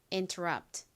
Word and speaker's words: interrupt: interrupt 한 번 더 해 보겠습니다. r의 강세가 있습니다.